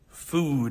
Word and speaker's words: food: Now, my friend, these are not the same, they don't have the same pronunciation, okay? Mostly because of the consonant sound here. This is a T, foot. Look at this, foot. And the vowel sound is different too, foot. And here I have food. You see the difference? Foot, food. So yeah, they are very different, okay?